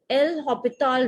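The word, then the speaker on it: L'Hôpital: in 0 by 0 form we can use something called l hospital rule this s is silent you can write it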